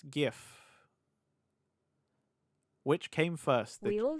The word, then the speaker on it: GIF: How do you pronounce GIF?